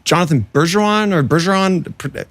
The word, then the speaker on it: Bergeron: you like the gnome your real name Jonathan Berseron or Berson pronunciation is not good for my French Canadianness. Please correct me. Yeah. No, Jonathan Beron like so it's Jonathan Burggeron basically like Tom Beron the America's uh funniest song videos.